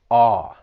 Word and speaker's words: awe: When pronouncing this word, it's just that vowel sound, awe, like you would have in the word saw.